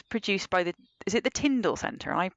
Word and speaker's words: Tyndall Centre: The white paper, that was produced by is it the Tyndall Centre? Am I pronouncing that correctly? Yeah, the Tyndall Centre.